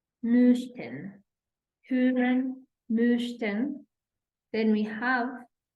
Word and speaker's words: möchten: And then we have möchten, möchten, hören, möchten.